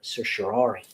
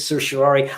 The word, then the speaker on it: certiorari: you are not alone I'm going with certiorari I'm referring to CER t io r AR I I hope that I'm pronouncing that in a way that's acceptable to you so what is the